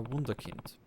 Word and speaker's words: Wunderkind: sounds like elite amazon you really are a wunderkind that's how you pronounce that word in german and it is a